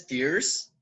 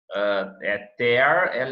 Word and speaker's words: tear: Se tu pronuncia tear é lágrima. E se pronuncia tear, é rasgão, ruptura.